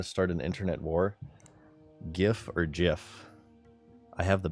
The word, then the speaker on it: GIF: GIF is the answer it is gift you know why because it stands for graphics interchange format G hard G I am aware that the creator of the file the file type whatever his name is he came out and he said gif I don't care this